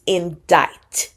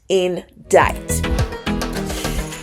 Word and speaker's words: indict: of a crime and please notice also that the pronunciation is indict indict the first portion says